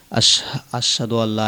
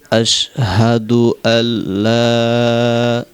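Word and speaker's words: أشهد أن لا: হয় না বলতে হবে আশহাদু আল্লাহ লাটা তিন আলিফ টান হবে এভাবে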